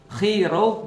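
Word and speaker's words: Chi Rho: Nah, jadi XP itu kalau XP bacanya dalam bahasa Yunani X itu bacanya khi eh P itu bacanya row. Jadi kalau XP khi row bacanya adalah Christ.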